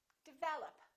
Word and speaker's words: develop: lot of people develop second syllable is stressed this is reduced this is reduced develop once in a while